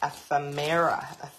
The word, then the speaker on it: ephemera: tell me ask me how to pronounce it it said ephemera emera and this one's